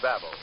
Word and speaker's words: Bab-O: Yet, these money-saving offers are only one advantage of using Babel.